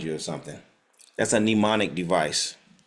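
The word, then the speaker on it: mnemonic: on what they call nemonic devices nemonic devices nimonic devices pneumonic is spelled the there's an silent M pneumonic is spelled like m n e m o n i c pneumonic devices pneumonic devices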